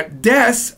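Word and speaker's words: です: Now desu means is, am, and are.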